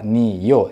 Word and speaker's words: 아니요: yeah man yeah and no is new yo three syllables whereas new a yo